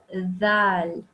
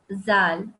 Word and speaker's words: Dhal: And today we'll be talking about Dhal, this letter here. So what happens is sometimes people accidentally call this Zal, or make the sound of Za, this one, this, Za.